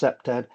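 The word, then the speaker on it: CPTED: And the knowledge areas include uh SEPTAD, it's pronounced SEPTAD.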